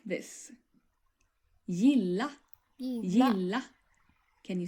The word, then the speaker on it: gilla: And the Swedish word for like in its basic form will be pronounced like this. Gilla.